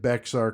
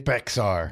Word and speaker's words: Bexar: now it is weird bear county is actually spelled b x a r but it's pronounced bear and I know that